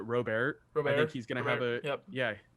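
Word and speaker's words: Robert: a huge year lease I believe you pronounce it robear nobody's gonna remember yep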